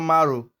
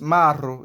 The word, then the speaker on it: Maro: The last one is a name, maro. It is not maro. It is maro. It's a name.